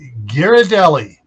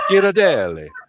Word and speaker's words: Ghirardelli: How do you pronounce the name of the chocolate? That's called Ghirardelli. Italian. Ghirardelli.